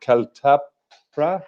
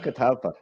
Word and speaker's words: Catalpa: Your band, is it Caltapra? Can you say that for me? Pronounce it? It's called Catalpa.